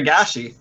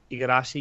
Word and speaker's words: Igarashi: Cross Iragashi. Igarashi, yeah, cross Why Igarashi am I coming saying on that?